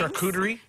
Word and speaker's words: charcuterie: Charcuterie. It's pronounced charcuterie.